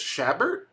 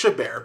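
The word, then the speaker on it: Chabert: Lacy uh I think it's I think it's shabber is it shaber actually know actually don't know how do you say her name oh it's it's shabar my bad so uh you know you of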